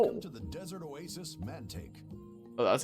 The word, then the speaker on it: Mantaic: Welcome to the Desert Oasis, Mantaic. Oh, that's how it's pronounced.